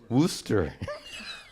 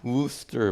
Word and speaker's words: Worcester: How would they pronounce it? Worcester. Worcester, Massachusetts.